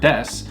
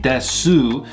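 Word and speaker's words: です: Now, when you pronounce the word des, you sometimes leave the U entirely silent. So it's not like you're saying desu, it's just more like des.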